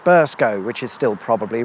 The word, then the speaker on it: Burscough: I've done my research this time, however, and whilst it's spelled like this, it's pronounced Burscough, which is still probably wrong.